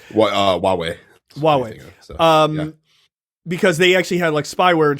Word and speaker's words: Huawei: shut down an investigation into a Chinese company Hawaii um uh or Huawei or whatever it is how it's pronounced uh Huawei Huawei um because they actually had like spyware and